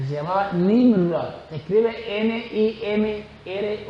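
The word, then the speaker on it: Nimrod: las películas de Hollywood que se llamaba nim se escribe n i m r o d nimr era Nieto de Noé nimr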